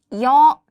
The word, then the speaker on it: 여: Listen carefully to the pronunciation. 여. Two short strokes instead of one, give it a Y sound.